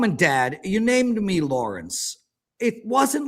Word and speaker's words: Lawrence: Wait, Lawrence has 3 syllables? Kid Lawrence. How's pronouncing Lawrence with 3 syllables? Lawrence. 2 syllables.